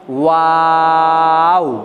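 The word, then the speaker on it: واو: বাস দেখেন তাহলে এই অক্ষরটা উচ্চারণ করতে গেলে প্রথমে ঠোঁট দুটি গোল, মাঝে লম্বা, শেষে আবার গোল এবং উচ্চারণটাকে লম্বা করতে হবে। যেমন ওয়াও ওয়াও ওয়াও ওয়াও।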